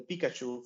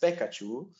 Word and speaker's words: Pikachu: localization simply because uh if you have the Pikachu for example is the mascot of Pokemon and if it is mispronounced as pekachu then it is a direct impact on the